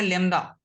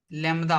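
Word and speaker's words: lambda: letter है ठीक है जिसको हम लोग बोलते हैं लड लमदा पढ़ते हैं क्या पढ़ते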